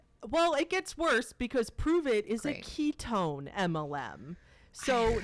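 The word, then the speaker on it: Pruvit: and you have to say it like that because there's an exclamation point at the end prove it and it's spelled p-u-p-r-u-v-i-t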